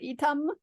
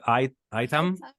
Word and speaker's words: Itam: English speaker if you if you read the word I think you're going to pronounce one way but yes this one is called itam i t a m like with an right I think normally you would pronounce that item item item H but